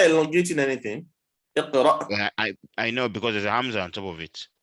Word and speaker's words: اقرأ: Just to note how the Hamza is pronounced when it has sukun. Okay.